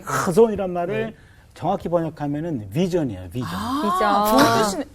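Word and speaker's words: חזון: 한번 발음 따라해 볼까요? 카존. 너무 많이 긁으셨어요. 맞아요. 그렇게 하는 거예요. 요 하자가 이게 가래뱉기 직전이에요. 진짜 그렇게 카존.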